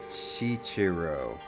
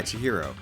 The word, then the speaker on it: Chihiro: Isn't that um um Chichiro right were among the many talented people whose research results were utilized. Yeah. Chihiro.